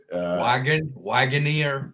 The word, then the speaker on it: Wagoneer: Well, here in the United States, Wagoneer.